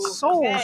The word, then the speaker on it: Souls: Todd Ferris, Megan Ferris, Terry Wagner, and Kate Souls. Rhymes with bowls.